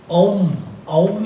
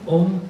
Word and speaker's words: Om: This mantra, Om is body, speech and mind. जिसे हम Om कहते हैं ना, it's actually not the right pronunciation. It is Om.